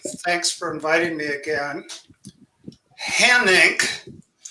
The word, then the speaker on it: Hanink: Hanink is not a household name, but it rhymes with my financial condition, red ink.